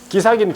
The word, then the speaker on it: 기사: 상두적 등록 취소입니까 자 기사기는 기사인데 버스 기사를 말해요 그래서 길게 발음해야 돼 기사 이렇게 기사 누가 나와 아까 했잖아